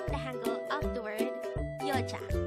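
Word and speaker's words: 여자: Korean the Korean term for a woman is yocha again it's your chat this is pronounced the two syllable word the first syllable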